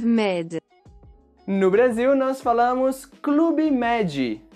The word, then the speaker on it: Club Med: No Brasil, nós falamos Clube Med. E sempre que temos palavras estrangeiras que terminam com uma consoante, adicionamos esse som de I para ficar mais fácil de pronunciar. Clube Med.